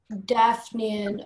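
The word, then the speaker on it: daphnean: Daphnian, are there any alternate pronunciations? Just the one, Daphnian.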